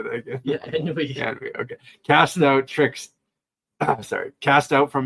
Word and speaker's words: ennui: Yeah, ennui.